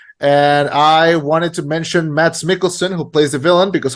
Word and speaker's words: Mads Mikkelsen: of the fact that you said his name wrong on the video review. You called him Mads McKinsley or something.